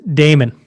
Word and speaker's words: daemon: i am referring to i call it the damon there's a lot of different philosophers that have